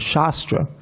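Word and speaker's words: शस्त्र: the word shastra and shastra. Notice there's two different words, shastra with a long A and shastra. Shastra, of course, is scripture. Shastra is a weapon.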